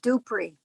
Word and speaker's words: Dupree: Yeah, I would just like to say the whole time I knew him, he pronounced his name Dupree.